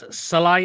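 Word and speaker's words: Sallai: look yeah I'll go for comments what's Roland salai is how you pronounce his name yeah Sal yeah he's a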